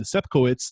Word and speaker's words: Sepkowitz: Sepkowitz.